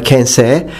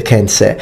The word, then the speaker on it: Kensei: Actually, in Japanese, and I do speak Japanese, when you have e and e, the last sound e often is dropped by natives. So the actual Japanese way of pronouncing it is Kensei. Kensei, just like when you say sensei, sensei.